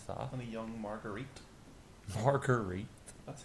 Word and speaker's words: Marguerite: Marguerite? That's how it's pronounced.